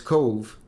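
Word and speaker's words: Cobh: Well, it's Cove, but I've always been told it was Cove. I never had to pronounce it any other way.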